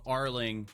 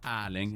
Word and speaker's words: Erling: My name's Arling, but it's spelt with an E because it's Arling in Norwegian, but like in English, Arling is closer to Arling than what Erling would be. So, Arling.